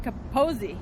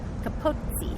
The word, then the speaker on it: Capozzi: It has a double Z. I learned in Italian that's like pizza. You pronounce it T-Z. Pizza. Capozzi. Capozzi.